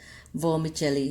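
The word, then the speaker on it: vermicelli: Okay, इसका pronunciation थोड़ा सा च्यों के साथ होता है, वर्मिचेली।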